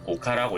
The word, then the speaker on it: 丘: 사구는 사규라고 읽고 언덕은 오카라고 읽습니다.